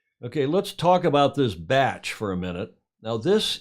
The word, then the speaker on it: bach: hamish's batch and that b-a-c-h is not Bach it's pronounced batch in New Zealand up here in Mercury